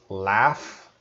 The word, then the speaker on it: laugh: GH is a F sound, so laugh. Another word might be cough and laughing.